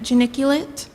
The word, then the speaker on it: geniculate: any alternate pronunciations geniculate geniculate geniculate am I pronouncing it right geniculate that sounds correct geniculate geniculate g e n